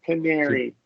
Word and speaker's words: canary: yeah yeah yeah then this a is a shuah the first a is Shah correct and the second one is a short e that's right canary oh okay yeah so